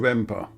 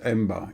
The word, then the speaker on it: Emba: And now we're going to be turning right into Emba, or Emba. It's various spellings, but I'd imagine it's pronounced Emba, E-M-B-A. Because Cypriots seem to pronounce a written P as B a lot of the time, which is why what